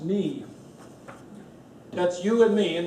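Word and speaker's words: 你: It's pronounced ni.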